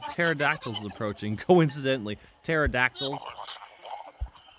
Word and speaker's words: pterodactyls: one remember how much I loves silent letters what flock of pterodactyls is approaching go incidentally